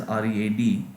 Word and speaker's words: read: So for example, the word read, which is spelled as R-E-A-D, is spelled read in the present tense, but pronounced read in the past tense.